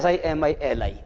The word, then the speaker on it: simile: इसको यूं पढ़ो बच्चों SIMILI। अब बोलो क्या पढ़ोगे? सिमिली। तो सिमिली इसका उच्चारण है। This is the correct pronunciation of the word that I wrote on the board।